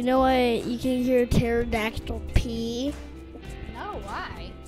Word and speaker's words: pterodactyl: Mom, do you know why you can hear pterodactyl pee? No, why? Because the P is silent.